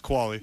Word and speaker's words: Qvale: and me both spelled with a V sounds like a youth just quality quali does it did it